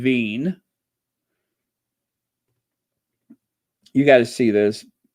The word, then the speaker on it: Wien: Wien. That's how you say it in German. Wien.